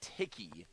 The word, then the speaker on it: Tichy: Rather Nate Ticky, that's how you say it.